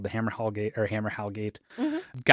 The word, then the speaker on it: Hammerhal: Hammerhal, not Hammer Hall.